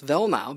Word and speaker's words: Weilnau: Are you sure it's pronounced Weilnau? Yes. Well, it all depends what country you're from. Okay, so if you're in Germany, it's Weilnau because the W is actually a V.